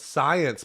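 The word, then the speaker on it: Psyence: you'd like this one it's called science but it's spelled PS Yen C we like this company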